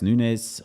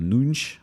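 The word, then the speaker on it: Matheus Nunes: lot of quality there Matthias Nunes or nunch I should say rather I shouldn't mispronounce Portuguese players names just because English commentators do it uh Joel gomsh who's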